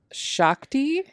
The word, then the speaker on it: Shakti: lord shiva she is the ultimate manifestation of shakti a leaf that's how it's pronounced yeah um shakti is the primordial cosmic